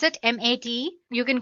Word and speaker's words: MATE: can see the machine boots you into the mate desktop environment let me pronounce it m80 you can call it whatever you want mate